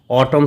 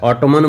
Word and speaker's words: autumn: ऑटम season होता है। ऑटोमन मत पढ़िएगा दोस्तों क्योंकि अगर एम के बाद एन आया तो एन को साइलेंट किया जाता है।